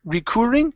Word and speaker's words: recurring: okay very good uh let's go to the word re recurring instead of recur recurring it's an R sound recurring nightmare recurring no